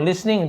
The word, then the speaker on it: listening: लिसनिंग टू the song लिसनिंग टी लिखा हुआ है लेकिन टी साइलेंट होता है सी इज लिसनिंग टू